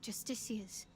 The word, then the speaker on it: Justiciars: I wonder, perhaps this is connected to the Dark Justiciars. Oh, I keep saying the name wrong. Justiciars. It can't just be a coincidence.